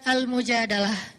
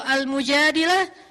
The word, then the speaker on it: Al-Mujadalah: Jadi tergantung kita bacanya dilah atau dalah. Kalau kita baca Mujadilah, berarti perempuan yang lagi curhat. Kalau kita baca Al-Mujadalah, berarti curhat itu sendiri.